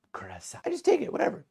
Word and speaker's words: Curaçao: Blue Caraco, Blue Caraco.